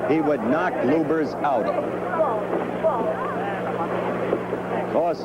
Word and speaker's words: Lubbers: Indonesia Mohammad Ali against Rudy LS or lubers it's pronounced both ways luers is probably more technically correct anyway it's the way Rudy wants it said see how